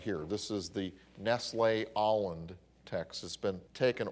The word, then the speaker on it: Nestle: was by Everhard Nestle for years I pronounced at Nestle n est le but I found out he wanted it pronounced Nestle ever heard Nestle it's the Nestle text